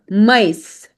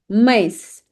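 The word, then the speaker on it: maïs: Now it is used on two vowels and both the vowels are pronounced separately. So whenever you will see this accent specifically laxonma. So there will be like two dots and you have to make sure that you pronounce both these vowels separately per example.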